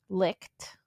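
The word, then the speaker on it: Licht: L I C H T licked.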